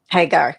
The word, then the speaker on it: Hagar: She's a founding member of the American Muslim feminist organizations, Daughters of, am I pronouncing this right, Hagar, yes. Hagar.